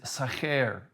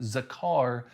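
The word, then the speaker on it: זָכַר: The word in Deuteronomy 8:18 is sacher. That's how you say it correctly in that context, but I've always said it Zakar LLC.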